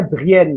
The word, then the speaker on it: Brienne: Itu dibacanya Brienne ya.